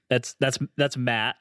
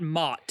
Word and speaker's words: Matt: So his is real hard, M-A-T-T. That's Matt, right? Not a lot of people pronounce it that way, It's not Mott. It's Matt. Yeah, just the normal way.